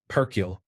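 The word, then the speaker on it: perkele: Perkiel. It is the Finnish word for The more you roll the R, the more emphasis you create.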